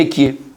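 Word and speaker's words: אהיה: le nom de lui, ça s'écrit Aleph, après il peut avoir un He, après il y a un Yud, et encore un E, ça fait Ekie.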